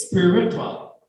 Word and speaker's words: spiritual: It's spiritual. The stress is on the first syllable.